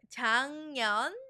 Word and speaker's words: 작년: Here you'll see a g 받침, but it's pronounced as a 이응 작년 because of assimilation that's happening. It's a pronunciation little rule that we have in Korean.